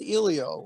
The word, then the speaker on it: Elio: oh yeah you know or elio it is pronounced elio although when i was a child um no